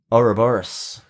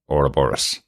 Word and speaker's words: Ouroboros: So we're going to pronounce it the way the American show pronounces it, as Ouroboros.